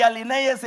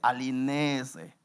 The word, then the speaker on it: alinéese: Dijo un pastor allá, "Alinéyeseme aquí las mujeres y alinéyese aquí los hombres." Y uno hermano ahí de esos que siempre anda, no se dice así, pastor, no se dice alinéyese. Se dice alinéese.